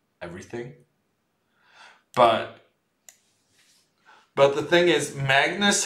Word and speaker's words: Magnus: But the thing is, Magnus has a very kind of accepted way of being pronounced in English.